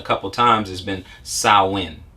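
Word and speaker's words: Samhain: they mentioned a couple of times has been sahwin right so if we look at saawan now it's uh s-a-m-h-a-i-n for those who would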